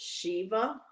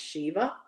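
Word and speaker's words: Siobhan: Luke, my name being pronounced so that's pronounced Shiva. That long word right there with the si that's pronounced Shiva.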